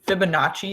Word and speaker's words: Fibonacci: to write it out FIB uh Notch e Fibonacci is how you pronounce it this is a dude